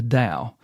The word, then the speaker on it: Dao: which he calls the Dao. It's T AO and of course it's spelled with a D because it's uh because it is.